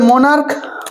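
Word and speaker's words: monarch: চ এর উচ্চারণ করছিলাম এখানে চ এর উচ্চারণ হয়েছিল চ কিন্তু এখানে আমরা ক এর উচ্চারণ করছি যেমন মনার্ক তাহলে সেক্ষেত্রে আমরা কি করব শুধুমাত্র এস লাগাব সেক্ষেত্রে আমরা কি লাগাবো স্যার?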